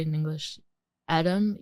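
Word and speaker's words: Edam: like how do you say it in English Adam e D- a m i don't even know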